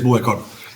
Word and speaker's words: Buëcor: empezar cuéntanos un poquito que es bucor no sé si lo pronuncio bien Perfecto perfecto Sí si es bucor y generalmente el nombre